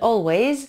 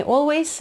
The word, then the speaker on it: always: Said I'll always be a friend, always. Не теряйте z, звонкую на конце, не always, а always.